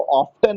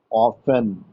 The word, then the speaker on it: often: और उसको ऑफ्टन नहीं पढ़ते हैं, उसको क्या पढ़ते हैं? ऑफन। ऑफ्टन नहीं पढ़ते हैं, ऑफन। ट नहीं, ट का उच्चारण नहीं होता, है ना?